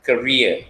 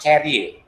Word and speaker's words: career: All right, remember career, it is sounded as career. You are supposed to pronounce it as career, with career. Okay, remember that, not carrier.